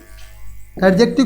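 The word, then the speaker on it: adjective: एडजेक्टिव का जो डी है वो साइलेंट होता है।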